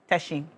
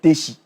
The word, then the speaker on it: Teshi: Um this season it's a football match between Teshi and Nunga. You said it's not Tishi. It's Teshi.